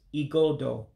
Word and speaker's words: igodo: Igodo, if you notice, it's spelled with an I to begin with. That I is converted to an E sound in Igbo.